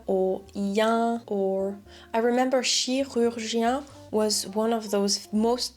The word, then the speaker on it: chirurgien: of those Reddit people because we have I, U, yen. That's a lot of different lip placements in one word.